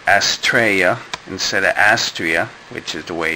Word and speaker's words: Astraea: Um, finally, after months of showing off the box, I'm get I built the Astraa um type F. You're gonna have to excuse me if I say Astraa instead of Astria, which is the way it's pronounced according to